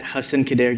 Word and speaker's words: Hassan Khadaie: You can find me everywhere at Hassan Khadaie. Yeah, that's how you pronounce it.